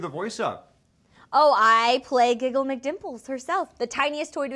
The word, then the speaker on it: Giggle McDimples: And they were like, that's our Giggles McDimple. Yep. Did I say it right? Yeah, Giggle McDimples.